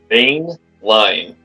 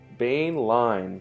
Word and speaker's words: Boehnlein: Boehnlein. Think of Bane, like the villain. Boehnlein.